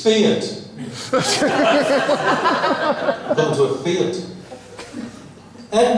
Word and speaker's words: Fiat: I believe I go into a fight the other day. Oh, no. That's not right. It's Fiat.